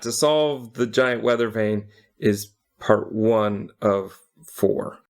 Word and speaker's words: Vane: easily and then I found a giant Weather Vein which is why it's called vein I because it's spelled v-a-n-e yeah but this is